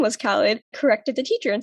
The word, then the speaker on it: Khalid: So for those of you who don't know, Khalid is actually pronounced Khalid, at least in Pakistan.